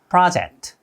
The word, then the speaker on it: project: 여기서는 프로젝트가 아니라 project. O보다는 아 발음에 가깝게 발음한다는 거 기억하면서 따라해주세요. Now he needed a new project.